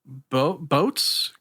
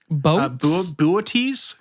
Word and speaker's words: Boötes: It is part of the Boats constellation. Boötes constellation, I guess. I forgot that I had a pronunciation guide right next to that.